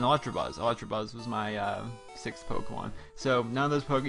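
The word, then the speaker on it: Pokémon: See, a lot of people say Pokemon. It's actually pronounced Pokemon.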